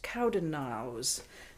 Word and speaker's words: Cowdenknowes: And Cowdennows is spelled Cowdenknowes, pronounced Cowdennows. And it rhymes with yows, which is how the Scots pronounce the word EWES, ewes, or lady sheep.